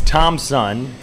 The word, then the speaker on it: Tom Sun: It's Tom Sun, just like you would think it's spelled, T-O-M-S-U-N, as a breaking ball.